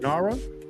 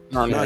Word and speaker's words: Narnia: of 2 films based on the Chronicles of Nara. Y'all pronounce that right, Shaw? Narnia? Narnia, yeah.